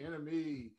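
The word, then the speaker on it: Iname: I'm your host, Enemy. It's spelled I-N-A-M-E because it's not about me.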